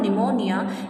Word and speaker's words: pneumonia: so john c here she's suffering from pneumonia here p is silent my dear student and